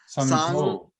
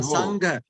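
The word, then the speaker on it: saṅgho: the GH, you know, GH, you pronounce as ho, but actually GH is a syllable in Pali. It is not ho, but go. Sangho. Yeah, Sangho.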